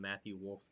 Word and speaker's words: Matthew Wolff: And I'm also proud that you've started pronouncing the L in Matthew Wolff's name. I can hear the L a little better, maybe because you heard it so much on Sunday.